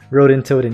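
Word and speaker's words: Ronintoadin: I don't know how to pronounce this, but we'll give Liam a shot at pronouncing it. Ronin Toad. Rodin Toadin? Rodin Toadin, yeah.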